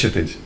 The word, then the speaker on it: Kshitij: Sir, it's Kshitij.